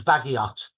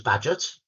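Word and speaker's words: Bagehot: h o t now to me that was baggot yeah I didn't know his name was badet that's how he pronounced but a very Posh upper middle class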